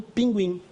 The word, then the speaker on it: pinguim: Esse grupo aqui, quando é pronunciado, GU ou QU, tinha que levar trema para dizer para nós que somos da língua portuguesa. Pronuncia, viu? Agora escreve-se assim e continuamos pronunciando pinguim, sem o trema.